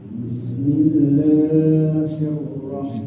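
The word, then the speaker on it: بِسْمِ اللَّهِ الرَّحْمَٰنِ الرَّحِيمِ: Kemudian penempatan hurufnya tadi mungkin agak selip lagi di hi ya. Bismillahir. Nah, itunya tadi agak sedikit kurang diucapkan lagi. Bismillahirrahmanirrahim.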